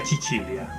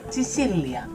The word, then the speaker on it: Sicilia: Viva Chichilia, ¿eh? No, Chichilia no es di Chichilia. Algún italiano que nos ayude en la pronunciación. ¿Cómo Dios tú? Chicilia.